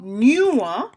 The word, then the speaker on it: knew: Mo new, new, K-N-E-W, mo sa, 5e, mo sa, li gen yon silent K del tou. Mem jan no gen yon silent K an, devan ni, new gen silent K devan tou, pa deyel, nta sote mba di deyel, se devan, ok?